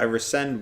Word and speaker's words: rescind: So I rescind what I just said.